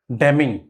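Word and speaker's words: damning: डमिंग क्या है? डमिंग। डैमिंग एन जो है यहां पर साइलेंट है।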